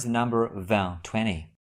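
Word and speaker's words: vingt: Now, how do we pronounce the number van? 20. The number 20 is pronounced without the final consonant van.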